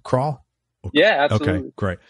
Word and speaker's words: Krall: Is that the right pronunciation for a last name? Krall?